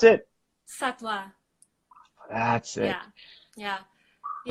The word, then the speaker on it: Sattva: So how do you pronounce it? Sattva.